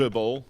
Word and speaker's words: Uwe Boll: How do you pronounce his name? Uwe Boll.